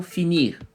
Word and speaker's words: finir: por exemplo, do verbo finir. Aqui a gente já ouve um pouquinho o som do R no final, né? Finir.